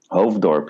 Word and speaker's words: Hoofddorp: And it's pronounced Hoofddorp? Hoofddorp, yeah.